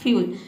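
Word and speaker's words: fuel: एफ का फॉ हो जाएगा, EU का हो जाएगा यू, और L का हो जाएगा ल, ये हो जाएगा आपका फ्यूल।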